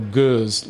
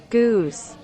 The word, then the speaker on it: Gueuze: Yeah, it's that sheep-sounding Dutch, not the hard German style of G. In English, it would be? Gueuze. Yep, that's it, Gueuze. So we'll refer to it as Gueuze today.